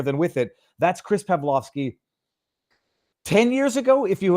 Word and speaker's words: Pavlovski: on over on Twitter what is pavlovski it is Chris pavlovski pav L vski Chris on Rumble uh not to be confused with pavloski arur pavloski pronounced the same way but arur spells his